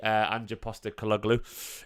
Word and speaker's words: Ange Postecoglou: Apparently City rate Ange Postecoglou, how it's pronounced.